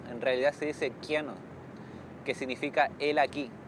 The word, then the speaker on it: Kiano: Que mi apodo es Cano, pero en lengua cahuéscar al menos Cano está mal pronunciado, en realidad se dice Quiano, que significa él aquí, o esta persona acá.